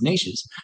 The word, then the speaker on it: niches: Like I always like the saying, riches are in the niches, even though it should be pronounced niches.